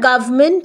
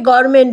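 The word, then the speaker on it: government: আমি শুনেছি সেই ওয়ার্ডটা যেমন ধরুন গভমেন্ট কথাটা এটা নিউজে আছে ইংলিশ নিউজে এবার নিউজ যিনি পড়ছেন তিনি সেটা গভমেন্ট হিসেবে উচ্চারণ করছেন তো কিন্তু আমরা হয়তো সেটাকে গভর্মেন্ট বলি গভমেন্ট বলি তাহলে এই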